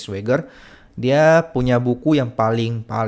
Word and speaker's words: Schwager: Ini buku yang baru-baru diterbitkan ya, memang karya Jack Schwager gitu ya, bacanya Jack Schwager.